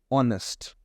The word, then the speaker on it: honest: is being pronounced as honest right it looks like or it seems like that I am spelling something like o n s honest person but H H is obviously silent but we will be